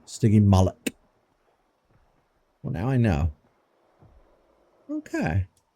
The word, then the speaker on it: Stygimoloch: All right, so I have been pronouncing it wrong this whole time. I was saying stygimolusk. Like it's some sort of slug or snail. Stygimoloch.